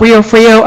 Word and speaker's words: Rio Frio: And the first syllable of Rio Frio rhymes with the last, kind of like Einstein.